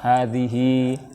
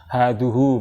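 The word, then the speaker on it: هذه: Hadhihi, hadza, hadhihi, dzalika, tilka, ulaika. Nah, seperti itu ya kita hafal aja, kita hafal. Hadhihi, ini membacanya kan hadhi, bukan haduhu, bukan hadzaha, gitu kan, bukan ya.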